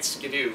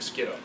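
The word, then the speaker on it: Skiddo: to go back and make it skido instead of skle um so skido and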